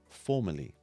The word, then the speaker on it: formally: with the letters e-r-l-y however when we say the words they sound almost exactly the same formally formally now you try